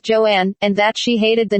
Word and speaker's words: Joan: Crawford later said that she wanted her first name to be pronounced Joanne and that she hated